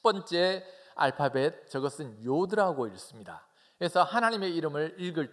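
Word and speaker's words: י: 첫 번째 알파벳, 저것은 요드라고 읽습니다. 그래서 하나님의 이름을 읽을 때는 야훼라고 읽는 것이 아니고 요드해 바우해라고 그렇게 읽습니다.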